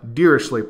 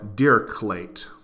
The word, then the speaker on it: Dirichlet: is known as the dirichlet problem or dear clate the man lived on the French German border so both pronunciations are acceptable frostman's theorem verifies our